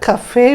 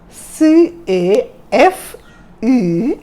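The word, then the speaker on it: café: the spelling of cafe c a f e and then this is line on top so you don't pronounce it as caf or cave you pronounce it as cafe ah have you heard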